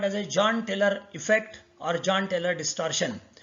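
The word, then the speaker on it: Jahn-Teller: is called as a John-Teller effect or John-Teller distortion. Our professor used to pronounce it as Yan-Teller distortion. He used to say that this J should be pronounced as Y.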